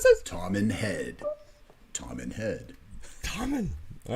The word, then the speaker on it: Toman Head: Pronounce this. Tom and Head.